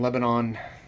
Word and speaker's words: Lebanon: be ending up in Lebanon I applies to pronounce that it looks like Lebanon like the country Lebanon as it's spelled Lebanon Missouri at the